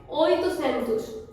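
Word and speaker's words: oitocentos: नाउ वी are coming to the number 800, 800 को हम Portuguese में बोलेंगे ओइटुसेंतुस।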